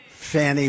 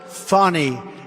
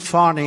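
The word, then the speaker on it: Fani: the horrible case of Fanny Willis it's it's actually pronounced fonnie it's f a n i but you pronounce it fonny a little French accent there fonny but that's a terrible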